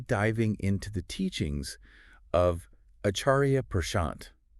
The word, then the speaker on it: Acharya Prashant: going to be diving into the teachings of acharia pant pronounced properly as aaria I Kia on Karma very cool you might think you know mhm but acharia pad offers some mind-bending twists on this concept that